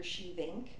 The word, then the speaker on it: Schievink: Shevink. I did want to put that out there too. It's spelled SCHIEVINK.